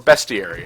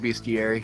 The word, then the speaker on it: bestiary: uh that bestiary or bestiary. How do you pronounce it? You say beastiary. Bestiary. I call it beastiary. I'm not sure if it's a tomato tomato sort of thing.